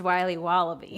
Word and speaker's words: Wiley Wallaby: It's pronounced Wiley Wallaby. Well, it's very good. It's called Wiley Wallaby, and it's delicious.